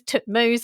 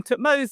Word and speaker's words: Thutmose: I think people worry far too much about pronunciation in the past. We don't have tape recorders unfortunately and you can read ancient inscriptions in a lot of different ways. So um I I call them Tutmos.